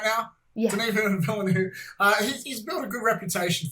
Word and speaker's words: Denis Villeneuve: Denis Villeneuve, he's built a good reputation for I do sci-fi, but it's serious.